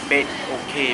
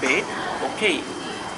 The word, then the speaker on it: Bedok: the word Bedok, but she still pronounce it bed okay because Bedok is the word Bedok is not included in her language, so maybe she cannot pronounce it, or she just couldn't get the word. Right. So the only way for her to read the word is to separate the word from bed, bed, okay. So she thought is the correct way to pronounce it, but it's not.